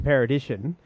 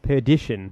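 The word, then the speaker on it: Perdition: it stars Tom Hanks it's called apparently I pronounced it the road to paradition which apparently is very wrong and he was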